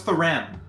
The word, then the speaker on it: Thuram: I really don't think his name is pronounced like that, but No, it's Thuram.